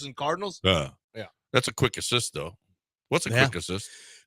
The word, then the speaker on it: Quick Asyst: The best way to list them is with Quick Assist. Go download the app. It's Quick ASYST. It's spelled a little differently. ASYST. Quick Assist.